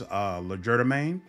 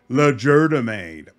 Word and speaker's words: Legerdemain: However, I still maintain my absolute love of Rain's Legerdemain. Apparently, I was pronouncing it wrong. I think about a dozen people popped up into the comments and said, it is pronounced Legerdemain.